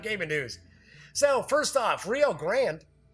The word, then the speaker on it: Rio Grande: So first off, Rio Grande, or as some people like to pronounce it, Rio Grande, but it is Rio Grande, will be releasing a deluxe edition of the classic Puerto Rico.